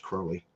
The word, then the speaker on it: Crowley: It was Crowley. But doesn't he Mr. Crowley? That's how he sings it. But yeah, I think you're right. It is pronounced Crowley.